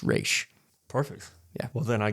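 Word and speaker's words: Ra's: and evidently per him is supposed to be pronounced re perfect yeah well then I guess in a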